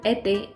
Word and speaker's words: été: the first accent L'accent aigu or acute accent this accent is only used with the letter e and it gives the sound ay as in été and étudiant .